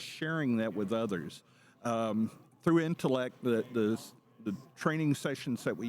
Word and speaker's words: ENTELEC: Because, I came and first I was mispronouncing it. So, I would say Intelec, and then I was corrected. No, it's intellect. Some people throw the T on the end, but give us that